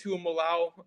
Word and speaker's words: Tuimoloau: And you know, I spent like 10 minutes trying to get that name pronunciation right because I was saying it the same way you did. I'm a Leva.